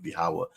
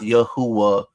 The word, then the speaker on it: Yahawah: The Most High God's name is not Yahuwah, it's not Yahweh, it's not Jehovah, like the simpleton that came into the live earlier, right? It's Yahawah.